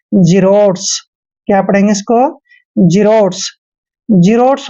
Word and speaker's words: xerotes: देखिए एक्स के बाद जब भी ई आता है, ए आता है या वाई आता है, तो एक्स का उच्चारण हमने जय करना है। एक्स का उच्चारण जय करेंगे और ई को ई की मात्रा पढ़ते हैं और आर का उच्चारण हमने रह करना है। ओ को ओ की मात्रा पढ़ते हैं और टी ई का उच्चारण ट करेंगे और एस को स पढ़ना है।